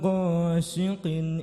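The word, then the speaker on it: غَاسِقٍ: Wamin syarri ghasiqin Ghasi si si. Baca huruf si. Siqin siqin. Ha. Wamin syarri ghasiqin idza waqab.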